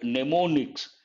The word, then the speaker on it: mnemonics: Have you heard of the word mnemonics? Here, first M is silent.